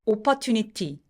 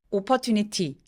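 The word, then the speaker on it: opportunity: 보세요 라고 읽지 않으셨어요 오퍼튜니티 소리의 분배가 굉장히 공평하죠 오퍼튜니티 근데 이러면 원어민들은 못 알아들을 가능성이 높아요 자 이번에는이 화면에 써 있는 저 빨간색으로 되어 있는 부분에 힘을 좀 많이 주면서 힘을 준다라는게 목수를 높인다는게 아니고요 어 하면서 볼륨을 크게 만들어내는 거예요 목소리가 높아지는게 아니라 앞으로 밀면서 자 제가 써는 대로 같이 발음해 볼게요 앞으로 미는 거예요 빨간 부분 길게 오퍼튜니티 보다 영어 소리에 성대를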